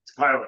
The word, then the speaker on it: Kyla: in my head and look at the Kyla. It's KYL. KYL, Yes. and then I can say it right.